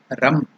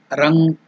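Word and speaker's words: रं: And then again sprinkle water saying Ram, Rang or Ram. The Vayu Bija mantra is Yam or Yang. So the Agni Bija mantra, fire seed syllable Bija mantra is Rang or Ram.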